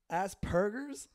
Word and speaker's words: Asperger's: it called Asperger's no it's a P it's not a B Asperger's what are you gonna